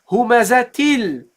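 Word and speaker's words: هُمَزَةٍ: Now the first one is not the last letter. So we pronounce it. We say humazatil. And T, you see, you pronounce it humazati, humazatil. And the second one is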